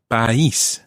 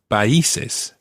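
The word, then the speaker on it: país: other countries exactly now that word base is a word that people often pronounce wrongly base and in the plural biasis and it's the accent on the eye that makes it it's spelled p-a-i with an accent s and if you think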